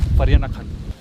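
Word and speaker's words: Vereeniging: इसको अगर आप पढ़ेंगे तो विरिंगनिंग लिखा हुआ, but this place is called in south Africa we is pronounce as एफ, सो we call this place फरियानाखन।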